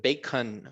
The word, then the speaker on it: bacon: si yo sé que la a es e y la o corta es o entonces bacon bacon vean que la o no es ou verdad no es bacon